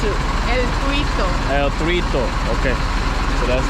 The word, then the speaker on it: El Tuito: How do you pronounce it? El Tuito.